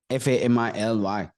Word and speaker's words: family: word fi l y f a m i l y many of us we think think it is family it's family my family I love my